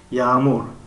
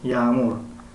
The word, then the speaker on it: yağmur: Yağmur, yağmur, yağmur. در اینجا کم تر حرفی یا مشکل تلفظ می شود. یعنی غی یعنی شاید 10-15 فایده. یعنی یağmur, yağmur.